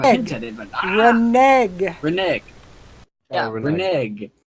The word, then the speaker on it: renege: deal, Renege. is that really the pronunciation?